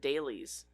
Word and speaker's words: Dulles: It sounded like they said Daly's Airport, but it's spelled like Dulles.